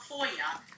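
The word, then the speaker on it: FOIA: I heard somebody talk about FOYA. How do you spell it and what is it?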